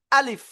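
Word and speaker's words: ألف: আলিফ। আলিফ মুখের খালি জায়গা থেকে উচ্চারণ করতে হবে, কোনো টান হবে না।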